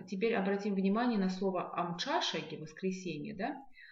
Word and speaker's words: Амчашаги: Итак, теперь обратим внимание на слово Амчашаги, воскресенье, Обратим внимание на звук «ч», посмотрим, что он пишется как «тш», и вспомним из прошлых занятий, что мы с вами запоминаем правильное произношение звука «ч» с помощью слова «лошадь».